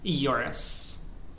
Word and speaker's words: Kjoris: here another imp for yurus is that how I'm pronouncing it yes K is silent J sounds like a y and all the other letters are like in English yurus you did misclick in